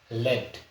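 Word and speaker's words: lead: spelling same है तो पहली जो स्पेलिंग यहां प लिखा हुआ है एल ई ए डी लेड अब लेड क्या होता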